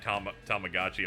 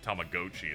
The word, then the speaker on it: Tamagotchi: The way they said Tamagotchi upset me.